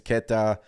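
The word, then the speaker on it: Queta: cornette and neas Keta is it ketta or ke sorry if I'm mispronouncing the name it's ketta uh they outplayed him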